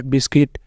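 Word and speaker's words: biscuit: मौजूद हैं यह है बिस्किट बिस्किट बिल्ड बिल्डिंग जिनके अंदर यू होता है साइलेंट यहां पे भी यू साइलेंट रहेगा यू को हमने नहीं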